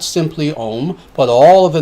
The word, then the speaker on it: Om: That is Om, A-U-M. And it's spelled A-U-M, not O-M.